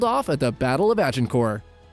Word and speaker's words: Agincourt: at the Battle of Agincourt. It's uh actually pronounced Azincourt, Battle of Agincourt.